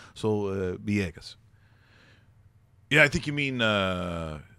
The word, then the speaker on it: Villegas: You could say Villegas, or sometimes if you're speaking Spanish, sometimes the V sounds a little B-ish. So Villegas.